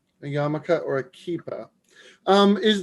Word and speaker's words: yarmulke: yiddish it's called a yamaka which is also really confusing cause i think there's an r in the spelling so i'm sure that throws a ton of people off but it would be